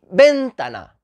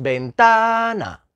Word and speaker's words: ventana: con ventana ventana ventana no decimos ventana o ventana decimos ventana vinton camiseta pues camiseta